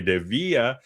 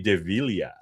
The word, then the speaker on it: DeVilla: If you're doing it in Spanish, it's DeVía. If you're doing it in Filipino, though, which is I I was born in the Philippines. I'm Filipino. The proper Filipino pronunciation is DeVilya.